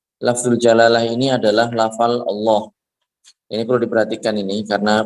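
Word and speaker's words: الله: Yang pertama adalah bahwasanya lamnya ini panjang. Kemudian haknya ini harus dijelaskan. Allah, dia ada haknya, bukan Allah. Sebagian orang bilang seperti itu.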